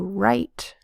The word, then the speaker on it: write: says like to write is spelled W R I T E. And that the W does not say W. Instead, it's silent.